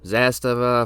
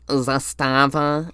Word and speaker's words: Zastava: Zastava, if I got any of these wrong, please tell me all the designations so I can fix my mistakes. It's pronounced Zastava, not Zastava.